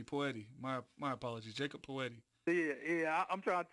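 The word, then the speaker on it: Jakob Pöltl: or excuse me poor Eddie my my apologies Jacob poeti yeah yeah I'm trying to tell you sometimes his name is hard to pronounce that's yakub Purcell you know no it doesn't look like that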